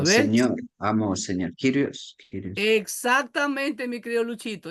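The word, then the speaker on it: Κύριος: Kyrios, Kyrios. Exactamente, mi querido Luchito. Es Kyrios, pero algunos dicen curios porque la Y parece una U, pero no es una U.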